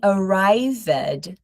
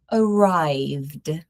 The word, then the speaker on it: arrived: Again, notice that we don't say arrived. We're going to say arrived. Traveled. Closed. Agreed. No extra syllable.